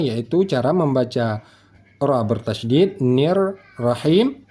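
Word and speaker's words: الرَّحِيمِ: cara membaca ra bertasydid nir rahim tidak perlu menambahkan huruf wau sukun new rahim newu rahim bukan begitu tetapi langsung saja nir rahim yaitu ujung lidah dari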